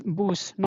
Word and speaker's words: Bus: So you will read it as boo not bus.